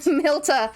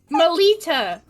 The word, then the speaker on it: Melita: It's Malta. No. No. What? Milta. What? Wait, no. No. Melita. Melita. You're Melita. Da. I'm just not gonna say it anymore. I'm sorry. Melita. I gotta say it really slowly.